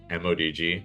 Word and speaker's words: ModG: How does Mr. Sebastian personally pronounce mod? In case you can't tell, ModG. I don't say Maj. I think Maj sounds silly. So, as for me in my house, we will say M O DG.